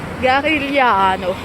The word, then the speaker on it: Garigliano: Alors non, ça se prononce ça. Garigliano. Le G est mouillé. On ne le prononce pas. En l'italienne.